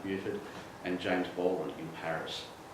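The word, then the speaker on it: Beauford: So in that milieu of people, that's where he met Truman Capote, Richard Wright, Buford Delaney, it actually is pronounced Buford, and James Baldwin in Paris.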